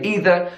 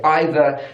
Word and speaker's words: either: them but I do sometimes I say either sometimes I'll say either I don't think about whether it's British English or American English the same with